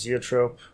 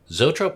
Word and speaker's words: zoetrope: I'd like to do, how's it pronounced? Zoetrope? Oh, Zoetrope? Yeah. Zoetrope, yeah.